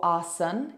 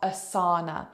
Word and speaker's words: asana: got it written AR a lot of people including myself will drop that a as so when you look at it you've got Asana or Asen it's very different from assana and it really is